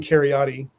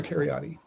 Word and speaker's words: Kheriaty: Aaron Keryotti and welcome Dr. Keryotti.